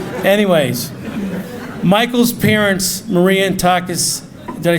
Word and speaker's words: Takis: Anyways, Michael's parents, Maria and Takis, did I say it right, Takis?